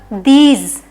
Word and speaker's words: these: Next क्या है, THESE, तो अगर ई आया है, एक लेटर छोड़ के फिर ई आया है, तो इसको ई वाले साउंड से ही पढ़ा जाएगा, दीज, दीज। TH मतलब द और D मतलब भी द होता है।